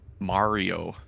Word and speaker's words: Mario: Mario, and How do you say Mario? Mario. Mario. like car.